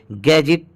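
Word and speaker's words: gadget: उसको सिल्वर बोलते हैं जैसे गैजेट देखिए इसमें जी के पहले दी है तो दी साइलेंट हो गया इसलिए इसे गैजेट पद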